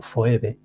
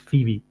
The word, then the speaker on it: Phoebe: phebe my name is phebe habis visto como pronunciado foeb myis fibi que aquí lo traduce manca pues ya veis